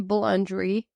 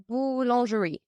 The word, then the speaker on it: boulangerie: Working in a boulangerie, bakery. A bakery. Yeah. Oh. Yeah. This is the right name, right? Nice. Yeah. How do you say bakery in French? Boulangerie.